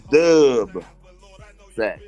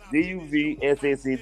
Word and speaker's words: DuvSac: It don't mean a 20 sack of weed. A 20 sack of weed is dub sack. A dub. DuvSac DuvSac.